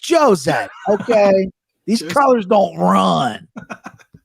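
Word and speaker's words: José: wanna you can't say jose aldo because they don't pronounce the jays in brazil it's jose it's an h nah it's jose okay these colors don't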